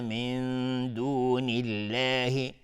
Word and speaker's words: من دون الله: وَيَعْبُدُونَ مِن دُونِ اللَّهِ، نون ساکن بر دال اخفای حقیقی و لفظ جلاله ترقیق است، چون قبلش کسره اومده.